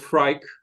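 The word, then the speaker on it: Freek: His name is pronounced Freyk, the Dutch version of Frederick.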